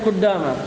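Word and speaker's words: قدام: Kuddama cara bacanya bi dhammil qafi wa tasdidid dali. Dengan di dhamma qafnya dan di tasdid dalnya.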